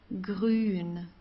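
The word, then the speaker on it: grün: okay Leela blow blow Gren green comes from the throat green GP okay GP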